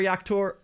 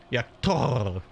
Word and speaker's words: Jaktor: The triple R in Jaktor. Yaktor. Really roll that R. Really get the pronunciation in there. Or we'll just say Yaktor.